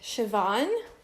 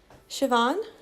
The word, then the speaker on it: Siobhan: not names in America like shavon shavon and when you spell it it's like SI o bh AI and there's something like